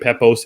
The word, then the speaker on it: Pepose: How did you pronounce his last name? Pepose. Pepose.